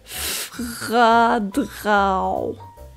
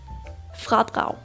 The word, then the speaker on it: fradrag: Vi starter med f som flaske r med støj på a som aldrig d som dør r med støj på igen a som aldrig igen og G Bliver til et u som ule fradrag fradrag danglish Bliv forstået